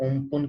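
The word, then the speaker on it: Amphan: तो इसका जो नाम दिया गया है वो इसको प्रोनाउंस करते हैं ओमपुन के नाम से प्रोनाउंस करते हैं, और इसका बेसिकली जो नाम दिया गया है उसे हम ध्यान में रखना अम्फान, ठीक है।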